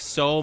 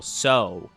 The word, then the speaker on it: Tso: they call well, like I've always heard it as General So, but apparently in some places it's pronounced General Tao. And then in some, it's actually pronounced General Gao.